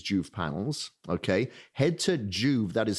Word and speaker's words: Joovv: So I have my big Juve panel at my treadmill desk.